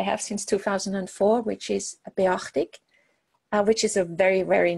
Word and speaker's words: Beachtig: a very, very nice, if you pronounce it in English, it's kind of like beach tick. So I always said it's kind of like being at the beach with a tick Swissness.